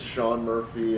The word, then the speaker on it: Sean Murphy: My name is Sean Murphy. I'm a reporter for the Associated Press. My name is spelled S E A N.